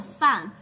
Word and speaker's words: 饭: No, fan. F-A-N. Fun. F-A-N. The word F-A-N. How do you pronounce the word F-A-N?